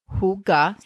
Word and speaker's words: hygge: So, if you're not familiar with the term huga, it is pronounced hugga, and it is a beautiful Danish concept centered on coziness, comfort, and connection.